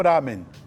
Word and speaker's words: ramen: E ramen é a pronúncia japonesa, né, para esse prato, né?